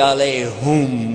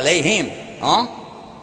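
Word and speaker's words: عليهم: Ghayrul maghdubi alayhum wala dhalin. Whoops. Ooh, yeah, alayhim. Actually, it's both because there is another pronunciation, but the common one.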